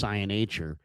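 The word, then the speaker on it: Iheanachor: I saw Matt Mayoka with Field Yates, and he was discussing, Caleb Lomu versus Max Ionacher. And it's Ionacher. That's how it's pronounced.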